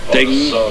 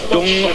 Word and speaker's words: Deng: People's Republic of Korea, and Deng, or Dung, as I should correctly pronounce her name, of China.